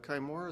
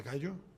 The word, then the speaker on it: kaiju: That was incredible because you actually gave us the fist hitting the Kaimura. Is that how you say it? The kaiju? Yes, kaiju.